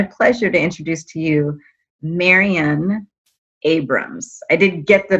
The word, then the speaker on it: Marion: to introduce to you marian abrams i did get the pronunciation correct correct no you got it perfectly you got it perfectly i tell people rhymes with aquarian or librarian perfect perfect it is